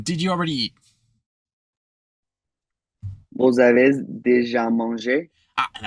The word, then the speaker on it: avez: Vous avez déjà mangé? And I think I heard that Z sound. You tried to rein it in, I heard, but avez.